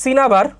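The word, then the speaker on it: cinnabar: এটা একটু খেয়াল রাখো, এটা আসলে সিনাবার, উচ্চারণটা সিনাবার। এটা আমি আগের ক্লাসেও বলছিলাম তোমাদেরকে, এটা প্রোনাউন্সিয়েশনটা হচ্ছে সিনাবার। সো ওইভাবে বইতে আসলে টিচাররা ওই যে ডাবল এন দেখে আর কি সিনা লেখছেন, প্রোনাউন্সিয়েশন সিনাবার, সমস্যা নেই।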